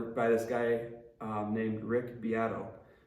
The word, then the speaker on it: Beato: this guy named Rick beato it's spelled like Beto b-e-a-t-o he makes really awesome